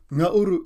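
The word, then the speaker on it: ngauru: is which means one the second word isuru Nuru is spelled n g a u r u repeat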